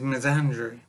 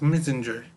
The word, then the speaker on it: misandry: Thoughtless and stupid basically and the word is Miss Andrew and I've been pronouncing it for years as messenger because I was very Dopey and didn't think